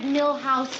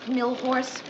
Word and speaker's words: Milhous: Grant asked me to remind you it's Richard Milhouse Nixon, not Millhorse.